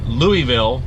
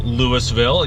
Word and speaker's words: Louisville: as a demonstration because Louisville can be pronounced Lewisville it can be pronounced Louisville it can be pronounced in any way shape or form is there's like five or six different ways of doing it so it shows very